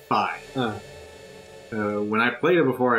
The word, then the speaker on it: Fi: Or Fi. I think it's pronounced Fi. I remember it being pronounced Fee. Well, I always said Fee, but in Hyrule Warriors Legends, they say Fi.